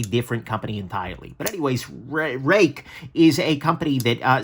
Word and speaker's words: Ruike: the company is uh they they are claiming this is pronounced rake um i'm probably gonna slip and say ruwaiki because that makes more sense but it's very important